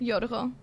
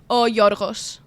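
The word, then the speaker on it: Γιώργος: Yorgo. Or like Yorgos.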